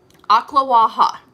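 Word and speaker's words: Ocklawaha: in ocala will know and understand okay so aqua waha is how you actually pronounce it it is an actual town it's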